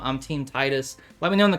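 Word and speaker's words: Tidus: have Cloud Yola Titus I know some people say tetus I know that's the correct way to say it tetus sounds dumb I'm team Titus let me know in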